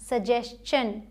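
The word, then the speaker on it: suggestion: ठीक है, एक्सेप्शन यहाँ भी देखिए, अगर एस के बाद TION आता है, एस के बाद मतलब इससे पहले अगर एस आ जाए तो इसे शन नहीं चन प्रोनाउंस करेंगे। जैसे यहाँ सजेस्चन, इसे सजेस्चन पढ़ा जाता है, यहाँ एस है फिर TION।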